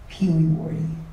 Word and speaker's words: Pewewardy: But the actual pronunciation is Pee Wee Wardy.